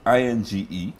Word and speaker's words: Inge: kind of yeah it's ing-e yes yes as in singer without an s singer but you're not